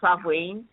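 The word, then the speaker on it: Samhain: sa which is um it's spelled Sam ha to people still say it like that but it's sain um who was the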